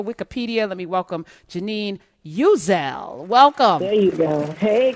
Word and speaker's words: Uzzell: when I see her, she reminds me of a Uzi, the way she comes powerfully into the world. But that's not how you pronounce her name.